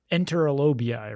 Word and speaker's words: enterolobii: reading I did about it's enterolobii, right? Yeah, enterolobi. I've heard it pronounced both ways.